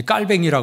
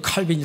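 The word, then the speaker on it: Calvin: 사람입니다이 칼빈이 1909년에 이제 깔뱅이라 그래요 원래 이름은 이제 프랑스 발음으로는 이제 깔뱅이라고 표현하는데 영어 발음으로 이제 칼빈이 이렇게 이야기합니다이 칼빈이이 프랑스 노형에서 출생을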